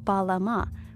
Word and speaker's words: balam: that we're meant to read this glyph as balama minus the echo vowel so balam these are phonetic